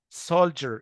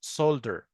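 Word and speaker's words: soldier: يبقى كلمه جيم ده هو الفوناتيك او بنسميه ترانسكريبشن او الفوناتيك سيمبلز بتاعتها بتتنطق جيم. سولجر اللي هي جندي، سولجر مش سولدر.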